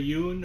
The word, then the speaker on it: Yuen: And the leads are Jackie Chan, Samo Hung, who directed along with some help from Corey Yun or Yen, however pronounce it. It's Yuen and um who am I trying to think of here?